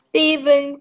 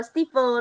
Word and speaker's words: Steve: Steven keeps the cheese in the freezer. Rồi, từ này nhá, không phải đọc là Steven đâu nhá. Steve thôi. Steve. Steve. Từ tên riêng chỉ đọc là Steve thôi.